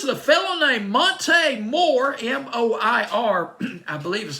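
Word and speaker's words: Moir: Flight Time, and that band was Jimmy Jam and Terry Lewis and a fellow named Monte Moore, M-O-I-R, I believe is how you pronounce his last name.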